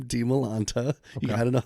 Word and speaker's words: Dimalanta: expound upon this that like usually in orientation I always say okay this is how you pronounce my name de Milanta you got to know how to pronounce it